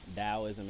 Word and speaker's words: Taoism: want to say taoism taoism is how it's pronounced but it's tao um like i said they